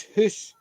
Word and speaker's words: house: Even the Scottish one is hoose.